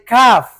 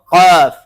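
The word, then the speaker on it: ق: Tay Benjamin, ang pagbasa nito ay kaf. Tama o mali? Ikaw. Tama or mali? Tama. Kaf. Mali. Mali. Anong tama? Ha. Qaf. Qaf. Qaf. Qaf. Okay, so cue siya na mabibigkasin mo yung ano na dito sa ano natin. Sa lalamunan talaga.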